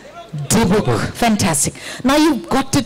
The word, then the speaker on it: Dybbuk: I hope I'm pronouncing it right again. It's Deepak. Is that correct? Right, Deepak. Okay. Can we all say it together? Okay. 3, 2, 1. Deepak.